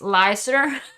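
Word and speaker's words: Leicester: face it's actually it it yes it is pronounced lysor um like someone told me what when i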